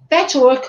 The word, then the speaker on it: Patchwork: de grupos de estudos em autoconhecimento na metodologia Patchwork, como é que pronuncia, Valéria?